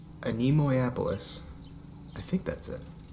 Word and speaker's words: Animois: Animois. Animois.